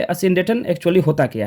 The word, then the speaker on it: asyndeton: ई टी ओ एन and phonetic transcription आप देख सकते हैं यहां पे ए अ सिन डेटन असिन डेटन स्टूडेंट्स अब हम लोग जानेंगे कि ये असिन डेटन एक्चुअली होता क्या है